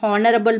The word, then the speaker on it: honorable: First letter H in these words, that is in honorable man, and then R is silent. H, the sound of the letter H is silent, and the first sound we are here is that of O, honorable, R.